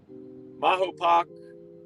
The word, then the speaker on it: Mahopac: But anyways, oh, Billy's in Mahopac.